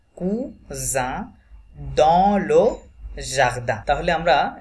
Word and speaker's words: cousin: is silent leur cousin cousin single s zo sound cousin dans le jardin তাহলে